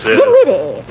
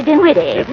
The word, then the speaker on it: Dinwiddie: Dinwiddie. Yes. Henrietta Dinwiddie. With an N, not an M, and the accent on the witty, not on the din.